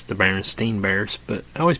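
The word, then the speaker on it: Berenstain: r e n s t a i n Baron steain just like it's pronounced so why do I have the memory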